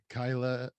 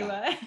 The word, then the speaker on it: Keila: so this evening we actually have jorge and kyla sierra did i say that right okay kayla yeah i said i said kyla dang it's